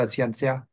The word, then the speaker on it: Xianxia: Can you explain and pronounce it properly, so I don't have to pronounce it again, the other genre that you mainly write in? Yes, I write the Xianxia novels.